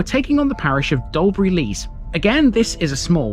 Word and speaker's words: Dalbury Lees: parish in the past such as dobur with Le but today dolber Le is the preferred term dobur is mentioned twice